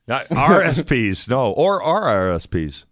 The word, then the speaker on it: RRSPs: The prospects are I don't have RSPs. RSPs, no. Or RRSPs. I said it wrong? Yeah, there's two. There's two R's on it.